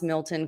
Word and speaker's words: Milton: get picked on because i actually pronounce milton correctly uh up here in vermont we don't like to pronounce our t's and we add ours where they don't belong so like vermont milton